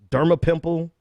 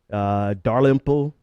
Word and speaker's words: Dalrymple: Governor Dermapimple. How do you pronounce his name? I'm sure everybody's yelling at the computers by now. Dalrymple.